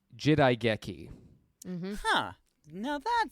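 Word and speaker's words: 時代劇: of a tantamount to period drama and it's pronounced jidaigeki huh now that sounds familiar huh yeah and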